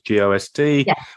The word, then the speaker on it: Ghost: I know the pronunciation is GOST, which is the same as Ex Voto, and it's going to be.